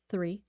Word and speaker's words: three: tree tree tree difference the difficulty is th three and then just a t Three Trees Three Trees